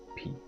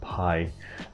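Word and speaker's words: Givenchy π: house of givenchy and it is givenchy p yes it's p how we pronounce it not pi uh but anyway uh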